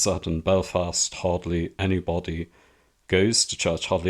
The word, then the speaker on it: Belfast: years ago, but they made a big deal about Belfast being pronounced on the second syllable. They say it's Belfast and not Belfast, and incidentally, that is how Christopher Hitchens often pronounced it.